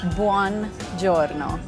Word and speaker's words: buongiorno: Buongiorno. Pretty close. Buon giorno.